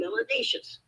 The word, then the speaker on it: melanaceous: If you have more melanin, you must be melanaceous, which rhymes with spacious and gracious and efficacious.